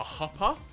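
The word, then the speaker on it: chuppah: I want to say it's called a huppa, which is spelled CHUPPA.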